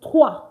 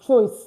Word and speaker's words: trois: Why is it not pronounced as choice? Not to worry. The pronunciation will be explained to you in class. It's pronounced as toi because OI in French gives the wa sound.